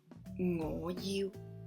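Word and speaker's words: 我要: So how do I say I want? Ngo you, ngo you. Ngo, rising tone, you, mid-tone.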